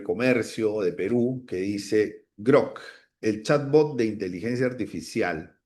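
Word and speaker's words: Grok: Croc, para pronunciarlo bien. Grock.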